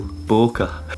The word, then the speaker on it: bokeh: Bokeh. Hey Phil, bokeh. Bokeh. I actually don't know how to pronounce it. I call it bokeh. In Japanese they would say bokeh, so it's pretty much the same.